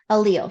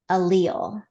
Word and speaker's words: allele: present on the gene allele so go ahead say that word because that's sort of a tough one if you're just looking at it how to pronounce it allele allele right like Muhammad alil okay that can help